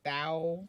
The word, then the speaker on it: Tao: At Thou Comedy. TAO. Thou Comedy. Thou? Studio. Okay. That's how you pronounce it that's how you're supposed Where to.